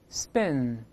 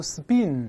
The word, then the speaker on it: spin: 读一下，spin，注意不要读 spin，不是 bin。李老师多次讲过，中间这个短音，哎，不要读成 e，不是 in。